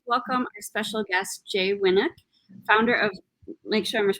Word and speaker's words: Winuk: i'd like to welcome our special guest jay winnick founder of lake sherman's pronouncing it right winnick winnick yes very good